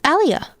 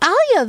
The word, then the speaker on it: Alia: Who is this Aliyia? Oops, I said the name wrong. That's right. There was someone named Alia there.